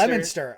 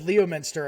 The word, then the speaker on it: Leominster: Leominster. I said Leominster, and somebody about slapped me in the face.